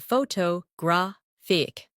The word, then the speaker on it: photographic: In English, some words are pronounced with extra emphasis on one part. For example, photograph, photographer, and photographic. The stress moves and that changes the sound.